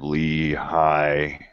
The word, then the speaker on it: Lehi: And so the gold plates was like the story of Lehi.